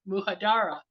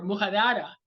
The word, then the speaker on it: Mujadara: world discovered it so it's muu j a d a r a pronounced my way muhadara or madada and you're going to pronounce it with a with a Latin accent but it's delicious so